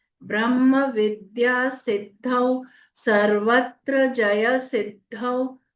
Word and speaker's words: सिद्धौ: with with या विद्या सिद्धौ स में छोटी इ की मात्रा ह्रस्व रहेगा आधा द ध में औ की मात्रा सिद्धौ सर्वत्र स रफार का